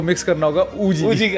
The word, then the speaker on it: Uji: इसको प्रोनाउंस जबकि जबकि हमारा पंजाबी एक वर्ड बड़ा सिमिलर है ओ जीी ओ जीी हां मतलब कह लो